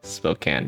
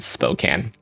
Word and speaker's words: Spokane: I once was offered a job at Gonzaga in Spokane, so I also lived in Seattle for 3 years, so maybe, but even before that I knew how you pronounce Spokane, but I would say can, and then milieu, or